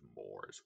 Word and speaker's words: mores: language religion habits and mores by the way everyone pronounces that name more social customs technically the correct pronunciation is moore's i don't know i'm